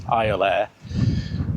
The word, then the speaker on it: Iolaire: We wanted to get it right, so I just Googled how to pronounce it. It is Iolaire.